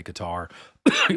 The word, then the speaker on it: Qatar: I know everybody says Cutter, I still say Qatar. Pardon me, just to make a a point. I'm not going to follow everybody else in the way they pronounce these countries.